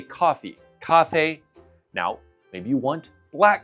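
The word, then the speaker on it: 咖啡: So, we just need to know "How do you say coffee in Chinese?" It's very simple. Kā fēi. Coffee. Kā fēi.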